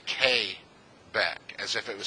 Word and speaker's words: Quebec: letters P is su and you don't say Quebec you say que back as if it was spelled ka Y there's correct pronunciation pronunciations it's like the letter 9 and